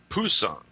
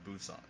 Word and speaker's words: Busan: Pusan. It's actually pronounced Busan, apparently. Oh, is it? Oh, okay. All Yeah. right. Sorry. We were always Oh, saying it wrong back then. we always said it as Pusan on the ship.